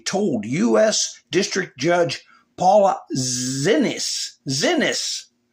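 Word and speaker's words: Xinis: District Judge Paula Zenas, or Zenas, yeah, that rhymes with a word she doesn't like, that if Abrego Garcia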